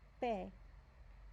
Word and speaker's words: pe: As in English, it's pe, pe.